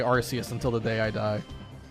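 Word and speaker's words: Arceus: Archus versus Arus. I do believe the official pronunciation is Archus. I will still I will still say Arus until the day I die.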